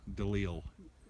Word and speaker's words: DeLeel: Well, I could tell you one thing about Eric DeLeo. Is that how you pronounce his name? No, it's DeLeo. DeLeel.